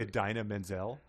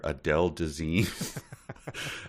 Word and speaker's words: Idina Menzel: The singer that he was trying to pronounce, but Idina Menzel. Idina Menzel, and he called her Adele Dazeem.